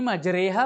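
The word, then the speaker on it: مجريها: Dan imalahnya adalah imalah kubra. Jadi bacanya E. Majreha. Jangan antum sebut majreha.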